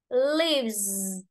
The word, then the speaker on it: leaves: Đấy đọc thêm rồi ta đọc là mixes, tức là có đuôi e, ta đọc là is. Nhưng ở đây đuôi e ta đọc này, leaves, leaves, không hề có nghe is gì cả.